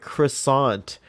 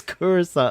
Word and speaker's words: Coruscant: And I would say, no, it's Coruscant. And everyone would say it to be a jerk. But everyone was laughing at me saying, that sounds like croissant. And I was like, no, it's Coruscant. I said it right from the beginning.